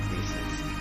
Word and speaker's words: Gris: by nematta studio so i will be pronouncing it greece as um i searched it up and namado sorry namada is um based in barcelona and we speak i believe barcelona spain they speak spanish so i'll be using the spanish pronunciation rather than the french which i'm used to but